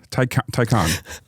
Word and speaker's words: Taycan: Taycan.